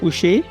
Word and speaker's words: Boucher: Today I've got Busher with me. do I pronounce your family name correct? Busher.